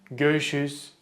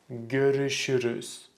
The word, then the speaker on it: görüşürüz: If you said something like görüşürüz, görüşürüz, unfortunately it's not correct. The correct pronunciation is görüşürüz, görüşürüz. Again, the biggest mistake people make with this one is they don't pronounce the syllables.